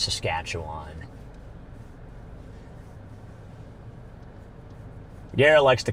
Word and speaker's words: Saskatchewan: Yeah, it is pronounced Saskatchewan. Gary likes to call it Saskatchoon.